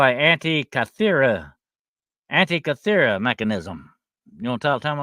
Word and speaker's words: Antikythera mechanism: And it's called I'm gonna try to pronounce this for you. It's called an antikythera mechanism.